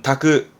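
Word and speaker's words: 炊く: 발음은 다크, 즉 고항어 다크, 밥을 짓는 거죠.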